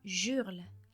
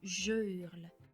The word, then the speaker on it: je hurle: donc pas rare entendre des erreurs comme j'urle à la place de je hurle il les harcèle à